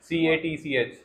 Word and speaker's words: catch: कैच आपने बोला था, जो कि आपने बाद में उसको हटा दिया था, बट उसका प्रोनाउंसिएशन थोड़ा ठीक नहीं था। CATCH। Catch. कैच, हाँ, आपने केज बोल दिया था।